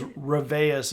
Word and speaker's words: Reveus: And it was Reveus is how they pronounce that word.